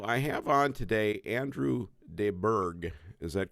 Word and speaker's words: de Burgh: So I have on today Andrew de Burgh. Is that correct? How I pronounce it?